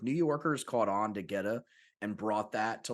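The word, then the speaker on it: goetta: for quite some time it's called geta please tell me I'm pronouncing that right yeah yeah you got it and and it is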